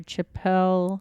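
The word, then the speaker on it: Chappell: By Chapel. Chapel. I say Chapel. I think it's Chapel. Okay. Sorry. Because there's 2 P's. So I I want to know. pronounce the second. And it's Pell.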